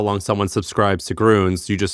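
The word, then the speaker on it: Grüns: It's Gruns.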